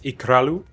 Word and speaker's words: Ikralu: It's Ikralu. Oh, Ikralu? Ikralu, it's a flapped R.